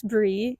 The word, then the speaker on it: Brey: So, I guess to start, my name is Bree. It's actually short for Aubrey, which is why it's spelled with a Y.